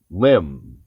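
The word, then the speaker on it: limn: the nation's iq up today with word genius lim part of the speech it's a verb and it's spelled l-i-m-n not l-i-m-v and it's late middle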